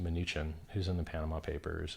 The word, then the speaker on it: Mnuchin: so we pumped uh you know 700 on Trump smack talking Bitcoin through his minion munchkin whose name I believe is accurately pronounced mnuchin who's in the Panama papers and flies in